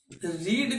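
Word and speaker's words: read: second का third का spelling एक ही होता है लेकिन उसको पढ़ा अलग से जाता है ठीक है उसको पढ़ा जाता है रेड I have रेड book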